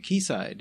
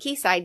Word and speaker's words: Quayside: Quayside, or as I like to call them, Quayside. That's how it's spelled. That's how I'm going to call them. I know they don't like it, but... It's an old world spelling.